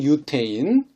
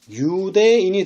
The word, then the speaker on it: 유대인: 어떻게 부릅니까 유태인이 다 한국 발음으로 유태인 그러나 원래 말로 한다면 은 유대인이 될 것입니다 사실은 이 이스라엘 사람들은